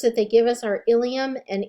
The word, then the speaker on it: ilium: The two words that they give us are ilium and ilium. They are pronounced the same, but they're spelled differently, and they definitely have different meanings.